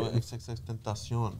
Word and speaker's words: XXXTentacion: XXXTentacion.